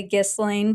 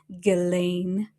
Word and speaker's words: Ghislaine: I say Ghislaine, but everybody says it's Ghislaine.